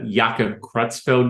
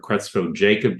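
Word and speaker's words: Creutzfeldt-Jakob: I mean, Yaka Kutzfeld disease is the name or Crutzel Jacob disease depending upon who's pronouncing it and where they were trained at.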